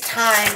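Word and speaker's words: thyme: was gonna say chives it's time it's just spelled with a t-h-y you know how I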